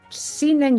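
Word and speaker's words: Zhineng: Pero como prácticas tradicionales que vengan de Occidente o de Oriente, desde luego las técnicas de Qigong, yo en particular recomiendo Shinen Qigong, que ese es el que yo practico, que me parece bárbaro, la meditación.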